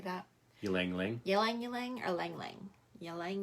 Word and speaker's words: ylang: Ylang. Ylang or lang lang? Ylang. It's like a yo-yo.